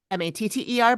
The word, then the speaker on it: Matter: Matter, but I heard someone else pronounce it Mater.